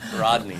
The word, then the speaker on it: Rodney: didn't take it Roger did he say Roger his name wrong Rodney did you say Roger I said Roger yeah it's Rodney it's Rodney but I want to